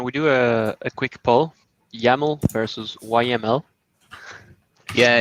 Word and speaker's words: YAML: I think YAML is don't call it YML. Yeah, I thought we were having a debate over which file extension to use. No, we are using YML, yeah, but it's pronounced YAML, surely.